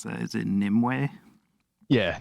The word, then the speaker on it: Nimue: And the first album, how do you pronounce that? Is it Nimue? Yeah, Nimue.